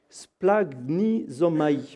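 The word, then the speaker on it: σπλαγχνίζομαι: Je vais essayer de le prononcer correctement. Le mot grec, c'est splagnizomai.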